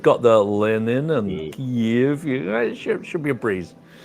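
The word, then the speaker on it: Kyiv: Kiev. I'm practicing my pronunciation there with the drawn out.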